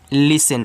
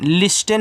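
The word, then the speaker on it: listen: इसको पढ़ते हैं लिसन। लिस्टेन मत पढ़ना। लिसन पढ़ना।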